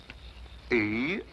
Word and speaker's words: Eros: She added an H where there shouldn't have been one. What? Then spell it as she spelled it, but without the H. E-R-O-S.